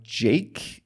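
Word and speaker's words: JVKE: search for it by Jake is the song of the week and Jake is spelled j v k in all caps now it's time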